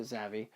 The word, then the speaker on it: Zavvi: It does say exclusive, only at Zavvi, or Zavvi. I pronounce it Zavvi.